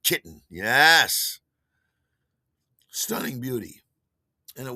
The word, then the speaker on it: KYTN: KYTN, pronounced kitten.